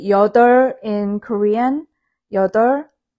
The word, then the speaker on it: 여덟: When you say 여덟 in Korean, 여덟, don't say like 여덟, 여덟, 여덟, 아니에요. 여덟, 여덟. It's more like la.